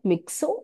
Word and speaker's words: myxo: So இத மிக்ஸோ and then மிக்ஸோ அப்படின்னு pronounce பண்றோம்.